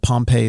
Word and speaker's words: Pompey: That's the town. The town is Pompeii. The general, Gnaeus Magnus Pompey, is Pompey.